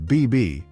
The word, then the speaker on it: BB: Nicknamed BB, pronounced in French much like the word for baby.